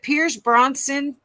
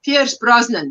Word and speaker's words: Pierce Brosnan: okay and was it Pierce Bronson or Daniel Craig no Pierce Brosnan that's the one Linda said it right Pierce Brosnan absolutely we